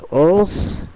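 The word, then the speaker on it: onze: এর উচ্চারণটি হবে ওনস, যেটি নাক থেকে আসতে হবে, এবং এটির উচ্চারণ হবে উই, অথবা যেভাবে আমরা ইংলিশে উই বলি সেইভাবে।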